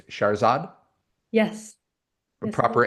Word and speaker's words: Shahrzad: It's Shahrzad. Yes. A Yes, it proper is. emphasis on the second syllable. Shahrzad.